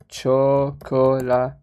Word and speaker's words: Chocolatey: Windows, or just install MySQL with the executable chocolati, or you have Winket chocolati. I always have difficulties to pronounce that one.